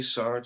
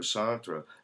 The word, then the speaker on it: Sartre: like sart you know if you say sart or santra uh people allow both I think I think please correct me here people he had both German and French parents and both of those pronunciations were acceptable some people say s